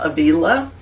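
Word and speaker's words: Ávila: called the mansions and she is St Teresa of Avala some some people pronounce that Aila and she began to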